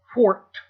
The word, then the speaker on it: Forked River: Even though it's spelled Forked, F-O-R-K-E-D, for whatever reason, New Jersey says Forked.